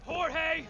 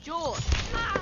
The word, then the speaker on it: Jorge: one up gets it Jorge my name's pronounced George don't you back talk me Jorge oh